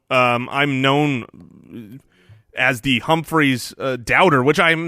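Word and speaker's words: Humphries: with getting back to Humphreys pronounced with an umphreys if both if both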